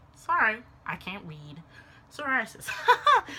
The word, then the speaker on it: psoriasis: Psoriasis. Sorry, I can't read. psoriasis. Because the P is silent, duh.